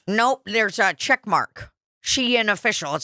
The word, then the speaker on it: Shein: same time okay so shine so it is pronounced shine I guess shine fashion lovers fashion lovers discover